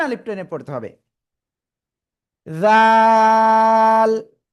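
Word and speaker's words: ذال: এরপরে আমরা যে অক্ষর শিখতে যাচ্ছি, সে অক্ষরে অক্ষরটা জিহ্বার আগা সামনের উপরে 2 দাঁতের আগার সাথে লাগাবেন, লাগিয়ে অক্ষরটা উচ্চারণ করতে হবে নরম করে, 1 2 3 আলিফ টেনে পড়তে হবে। জাল জাল।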